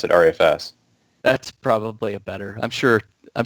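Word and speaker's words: ReFS: saying our EFS and people you guys not pronounce it Rufus no I've never heard anybody pronounce that Rufus we usually hear pronounced at our FS that's probably a better I'm sure I'm sure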